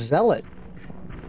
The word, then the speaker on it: zealot: and my friend said hey you know that's pronounced Zealot and then I looked up what a zealot